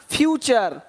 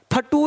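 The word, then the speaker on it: future: कल्चर पिक्चर है ना फ्यूचर फटू नहीं बोलना कि देखो भाई ऐसा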